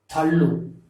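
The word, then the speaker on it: தள்ளு: So kick represents Udai, and another one pull, ilu, the way of being pushed is represented as thallu.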